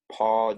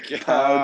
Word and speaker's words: Pau: Oh my Pau god. Gasol. We should have had you He moderate, is a honestly. Pau Gasol, not Paul Gasol. All right, I just pronounced the first part wrong.